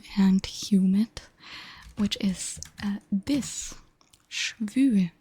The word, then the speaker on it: schwül: Schwül. The U has two little dots on top.